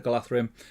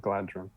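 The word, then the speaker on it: Galadhrim: That's why it's Galathrim, not Galadrim.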